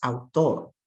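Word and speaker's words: autor: word to me author the spanish word is outdoor how many syllables in that word put your hand under your chin your mouth open two times that's two syllables how about english author it's also two how many sounds in spanish ah four how about in english ah er only three how many meaning units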